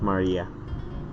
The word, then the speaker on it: Maria: written moon runs of course moon runs is pronounced Maria the third character looks like a cross which